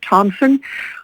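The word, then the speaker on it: Tomsen: listening to public comments my name is tina thompson last name is spelled t-o-m-s-e-n we know that inlet view elementary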